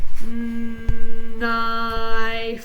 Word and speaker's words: knife: Knife. The word is knife. Now remember, these are all, we're ignoring the first sound, the first letter.